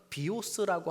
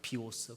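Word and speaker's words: βίος: live는 떠나다니까 4번, 그리고 이생이라고 하는 단어로 2번, 그래서 10번 들어가 있는데, 이 살림이라고 하는 원래 헬라어는 비오스라고 하는 발음이에요. 비오스.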